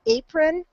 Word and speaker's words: apron: Apron, we would use a long A sound instead of I can't remember.